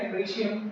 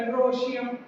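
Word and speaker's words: androecium: एंड्रीशियम, या थोड़ा सा ओ करके एंड्रोशियम, ठीक है, लेकिन सही होगा एंड्रीशियम। जहां भी ओ और ई आ जाता है उसका प्रोनाउंसिएशन ई होता है, ठीक है। जैसे ओइसोफिगस नहीं बल्कि ईसोफोगस। क्या बोलेंगे? ईसोफोगस।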